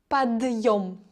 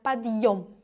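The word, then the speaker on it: подъём: That means that this de should be pronounced hard, so it's подъем. Yeah, подъем.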